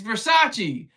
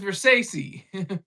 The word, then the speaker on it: Versace: It's Versace, but he says Versace. I can't pronounce them.